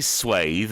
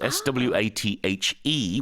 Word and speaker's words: swathe: I say swathe, and I know that you say swath. Yeah, I think that's the more American way. But both are okay? And there's also two different spellings. S-W-A-T-H-E, which is why I think it's pronounced swathe for me, and then